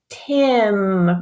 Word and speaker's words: Tim: The I makes a short sound, so it says I, Tim.